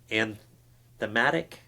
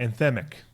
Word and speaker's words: anthemic: It's got it's kind of an anthematic. Is that the right way to say that?" Anthemic. Anthemic. Thank you.